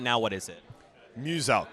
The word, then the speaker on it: Muselk: Muselk. So it's like Muse and Elk. Muselk.